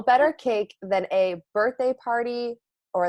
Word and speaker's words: Parde: so set us straight so my last name is party it sounds like a birthday party but it's spelled a little differently it's p a p-a-r-d-e but still pronounced the same and of course everyone's